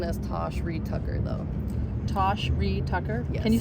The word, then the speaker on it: Tosh Reed Tucker: Tosh Reed Tucker. Can you spell that?